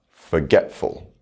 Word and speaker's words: forgetful: Now we'll add a suffix, forgetful. The stress is unchanged.